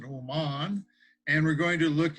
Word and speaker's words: Oman: look at oman yes just like old man but we pronounce it oman and we're going to